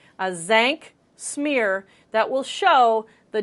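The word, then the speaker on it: Tzanck: called as ank but starts with a T but the T is silent as thank smear that will show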